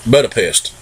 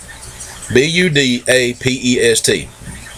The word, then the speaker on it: Budapest: i can't read good to start with or pronounce my words but it's a berta pesh butter pack butter pat butter pest b-u-d-a-p-e-s-t budapest m-95 now it's got the h stamped